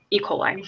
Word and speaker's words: E. coli: It's E. coli.